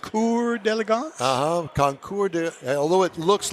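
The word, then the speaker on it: Concours d'Elegance: really pronounce conour delance is the way it's pronounced conour delance uhhuh conour although it looks like conour d Elegance no it's not uh that's maybe the hillbilly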